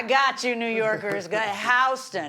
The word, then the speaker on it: Houston: Go Houston. The rest of the world pronounces it Houston, but it's Houston. It shows you how far south I get.